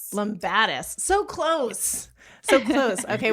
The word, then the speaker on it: Lumbatis: It's Lombadis. Lombadis.